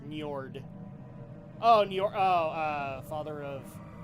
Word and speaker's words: Njord: It's Njord.